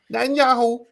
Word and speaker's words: Netanyahu: How do you pronounce his last name? Netanyahu.